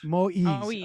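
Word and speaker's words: Moïse: Moise, am I pronouncing his name? Moise. Okay. By the way, Moise is the French name for Moses.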